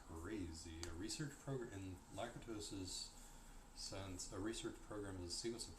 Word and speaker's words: Lakatos: A research program, in Lakatos's sense, a research program is a sequence of problems placed in order of priority.